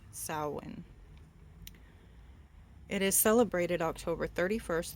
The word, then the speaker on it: Samhain: word and spelt like Samhain but it is pronounced salen it is celebrated October 31st through November first